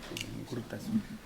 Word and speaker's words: Urtasun: ¿Cómo se pronuncia el apellido? Hurtasun. ¿Cómo? Hurtasun. Me lo dejas ahí, pero tú así se pronuncia también. No, yo nomás voy a decir Urtasun.